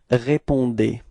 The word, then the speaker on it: répondez: Keep in mind that combination between E and Z at the end of the verb is E, is pronounced like E. Okay. So you get this vous répondez.